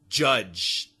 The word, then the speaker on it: judge: l l y completely judge j u d g to judge somebody the J and the G have the same pronunciation don't they judge to make an